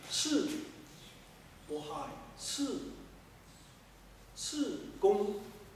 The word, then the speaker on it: qi: That qi. Qi pronunciation. Qi. But proper pronunciation should be shi.